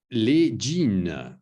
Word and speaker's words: les jeans: Les jeans, répétez les jeans. OK. Les jeans. OK, so here the S, of course, is silent.